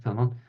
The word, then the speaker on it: Filemón: Yeah, right, Filemón. Sí, sí, Filemón, Filemón.